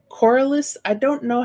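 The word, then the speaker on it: Corlys: uh i keep saying coralist i don't know how to actually say his name like but i believe that's how you say i think it's cordless as if an apple had no core it's correlated poreless yeah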